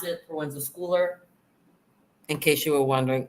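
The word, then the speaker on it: Proenza Schouler: That's how, and that is the way that you pronounce it, Proenza Shouler, in case you were wondering.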